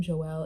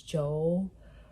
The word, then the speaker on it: Joel: I keep calling him Joel. It's Joel. But I don't know why I keep calling him Joel. I don't know. That's like how I pronounce the name, but it's Joel.